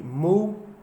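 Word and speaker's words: move: आई rhyme का मतलब होता है कि स्पेलिंग एक जैसी लगेगी, मूव और लव, LOV, जबकि प्रोनाउंसिएशन इसका मूव होता है और इसका लव होता है।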